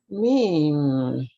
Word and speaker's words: Meem: This letter Meem has the M sound built into it at the front of it. And where else? At the end. At the end of it.